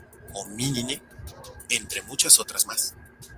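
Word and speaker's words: Homininae: terminación de las subfamilias, mismas que terminan escritas en NAE, que, como hemos visto, se pronuncia como NE. Así tenemos subfamilias como Canine, Feline, Hominine, entre muchas otras más.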